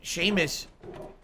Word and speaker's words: Seamus: Seamus is actually pronounced Seamus, so my assumption was correct.